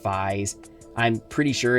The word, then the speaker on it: Faiz: it's written as 555s but in Japan it's pronounced FES I'm pretty sure it's some sort of word